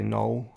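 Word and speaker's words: Noël: um and of course in english i would just say null which is kind of the l kind of gets dropped in new zealand accents anyway yeah to a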